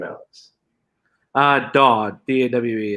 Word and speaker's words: Dawe: last name alex ah dawg d-a-w-e it's like a aw with a d yeah i know i